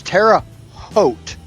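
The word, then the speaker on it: Terre Haute: Um, even though it's properly pronounced as Notradam. Um, it's Notre Dame. It's terra hot, not terra.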